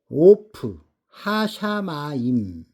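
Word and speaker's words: עוף השמים: 하늘의 새에 하늘의 새는 오프 하샤마임 오프 하샤마임 이렇게 읽습니다.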